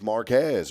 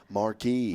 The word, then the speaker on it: Marquez: And so whenever I see a town that's spelled Marquez, you would think it's Marquez, right? It is. But it ain't. Here in East Texas, you know what it is? Marquis.